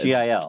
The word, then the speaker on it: Gil: I've never known how to pronounce that. G-I-L. It's Gil. I would say Gil.